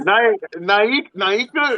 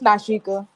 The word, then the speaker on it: Nashika: Naika. How you pronounce that? It's Nashika. Nashika.